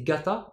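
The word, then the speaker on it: がた: Ici, c'est un suffixe de pluriel qu'on va d'ailleurs souvent prononcer gata hein, en fin de mot, donc on récupère le dakuten sur le ka.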